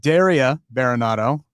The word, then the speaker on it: Daria Berenato: All right, Daria Baronado.